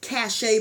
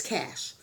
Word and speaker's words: cache: Katz it's spelt like it's supposed to be pronounced cash a but it's cash so um yeah but anyway we're going to